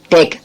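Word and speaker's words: bake: இதே அமெரிக்கன் இங்கிலீஷ்ல எல்ஏசி வரும் அது வேற ஓகே அடுத்து பாருங்க டேக் பிஏ கே இ டேக்ன்ற வார்த்தையில இ சைலன்ட் டேக்னு உச்சரிக்கணும்.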